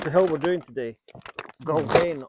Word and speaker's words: Gulvain: Gulvain, or if you want to take the literal pronunciation, Garvain.